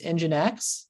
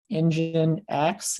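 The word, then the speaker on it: nginx: another alternative is is engine X that's actually how it's that's how it's pronounced is um engine X is how you pronounce that uh blows some people's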